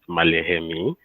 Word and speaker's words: Maleghemi: the surname is pronounced Maleghemi. Uh, let's just say the G is silent.